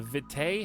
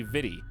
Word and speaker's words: vitae: do you say that it should be vidi but it's probably not pronounced that way by tom no that's that's a different word it actually should be vidi because uh aegis is aegis so like the ae sound should be like a e sound actually so